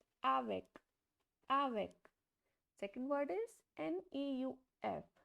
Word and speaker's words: avec: So the last consonant is C. So it will be pronounced completely. Avec.